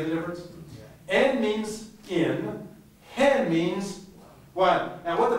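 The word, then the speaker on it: ἕν: A rough greeting mark. So how would you pronounce this word? Hen. And it's the number one in Greek. It's the numeral one. So the only difference between in and one is en or hen. Can you hear the difference?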